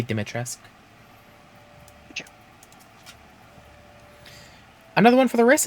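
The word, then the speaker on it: Dimitrescu: say that name uh it's either uh demetrius or dometresk uh the way they pronounce it in the game is uh dumatresque but i think someone said that that's technically wrong in the like actual language and it's supposed to be dimitra's another one for the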